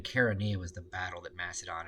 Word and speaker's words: Chaeronea: I had should have been Chaeronea was the battle that Macedon defeated.